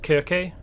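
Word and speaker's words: Circe: but in the myth cersei was um well actually when i was looking this up apparently it's supposed to be pronounced kirke the two c's are uh pronounced hard rather than soft but um regardless apparently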